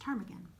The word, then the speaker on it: ptarmigan: Now a ptarmigan, it's kind of a funny word because it actually starts with a P, but it has a silent P and it's pronounced ptarmigan.